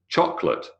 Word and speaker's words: chocolate: insufferable is four syllables chocolate is not chocolate unless you're Yogi Bear favorite is not